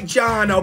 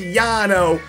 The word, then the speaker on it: Jarno: grand champion of F1 it looks like Jano but apparently it's pronounced Yano the grand jump of